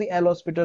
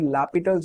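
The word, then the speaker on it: L'Hôpital: Rule या तो फिर हॉस्पिटल्स रूल या तो फिर लापिटल्स रूल, प्रोनाउंसिएशन अलग अलग है बट सबका मतलब एक ही है।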